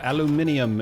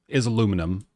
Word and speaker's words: aluminium: Your aluminium is mine. Haha. Winner. Actually, talking about aluminium. So aluminium is aluminum in the US. Aluminium, though, is just how you say it in places like England.